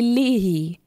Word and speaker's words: Leahy: Her middle name is and then her last name is L-E-A-H-Y. Leahy. Leahy. That cannot be your name. Pronunciation. Leahy. Oh, Leahy. Oh, now I'm feeling embarrassed, guys. Leahy. That makes much more sense.